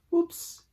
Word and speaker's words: Oops: The color's called Whoops So it's spelled OOPS. Whoops.